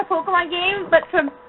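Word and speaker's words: Pokémon: Pokemon. Technically. Technically, it's pronounced Pokemon. That's the Japanese pronunciation.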